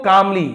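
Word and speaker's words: calmly: इफ यू गो कामली, यहां पर भी एल साइलेंट है, ये वाला एल साइलेंट नहीं, केवल ए वाला एल साइलेंट है। कालमली नहीं बोलेंगे, कामली, ये एल को बोल रहे हैं, ये वाला एल को नहीं बोल रहे, तो ध्यान देंगे।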